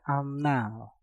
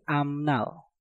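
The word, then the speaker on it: 앞날: Untuk contoh selanjutnya ada amnal. Ap berakhiran dengan piup, setelah itu diikuti kata nal yang diawali dengan nieun, maka piupnya kita rubah menjadi suara mieum. Menjadi amnal, amnal, amnal, amnal.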